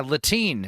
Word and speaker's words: Latine: Yeah, Latine is the new thing, which rhymes with latrine.